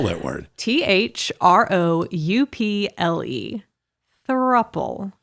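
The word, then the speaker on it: throuple: you heard the word thruppel yes yes how would you spell that word t-h-r-o-u-p-l-e thruple it's couple but take off the C and put a three oh good grief this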